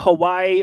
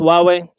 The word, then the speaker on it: Huawei: go I call it Hawaii or who we are why we whatever yeah I get that brand mixed up it looks like Hawaii but it's pronounced Huawei okay I'll take it